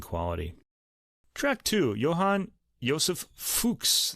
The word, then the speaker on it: Fux: track two Johan ysep fuks that's spelled fux gratus ad parnassum this